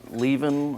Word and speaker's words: Lieven: yes my name is Le so if you want to pronounce my name think about leaving and drop the G that's how you pronounce